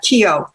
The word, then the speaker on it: Keogh: out to you that it's Officer Keogh. There's no GH sound pronounced his name. That Keogh.